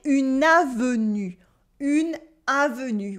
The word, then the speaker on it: une avenue: Like une avenue with this U sound.